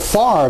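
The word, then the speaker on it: Favre: names how about Brett farre the NFL champ you pronounce it with the r on the left side of the V but it's actually written with the r on the right side of the V and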